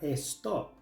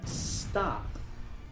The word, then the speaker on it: stop: Muchos pronuncian esta palabra stop, pero cuando una palabra en inglés empieza con s, no se pronuncia es, empieza con el sonido de s. La o se pronuncia a, entonces esta palabra se pronuncia stop, palabra número 10.